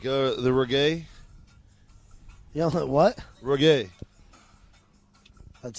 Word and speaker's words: reggae: You don't like the reggae? You know what? Reggae. That's how it's pronounced.